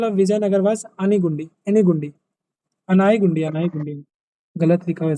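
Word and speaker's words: Anegundi: The initial capital of Vijayanagar was अनीगुंडी, एनीगुंडी, अनाईगुंडी, अनाईगुंडी, गलत लिखा हुआ स्पेलिंग।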